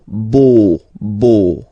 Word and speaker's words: beau: So remember this E, A, U combination of vowels only give you the sound O, beau, beau, okay?